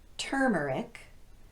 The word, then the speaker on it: turmeric: don't follow this pattern here are the words that are exceptions to our rule they're all stressed on the first syllable with the exception of